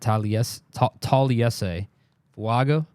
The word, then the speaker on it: Taliese Fuaga: Taliese Fuaga.